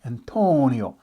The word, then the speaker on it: Antonio: go with uh antonio he said no no you got to say it like you're italian antonio you got to put your fingers together antonio so ever since then